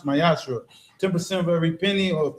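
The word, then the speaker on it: מעשר: Malachi 3 8-10 means temp in Hebrew and pronounce myashra.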